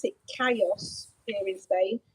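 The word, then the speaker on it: callos: sees it on a menu it's called you pronounce it chaos experience Bay it's c-a-l-l-o-s and that's striped you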